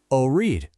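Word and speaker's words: أريد: Let's break it down into 2 little sounds. O, read. Now let's put it together. Orid.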